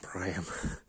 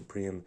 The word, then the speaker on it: Priam: watching the TV show, they called the king of Troy Priam, and I was like, what? That's not like the Troy movie where they say King Priam. And I searched up, it is pronounced Priam, and I was pronouncing the Priam in my head the whole time.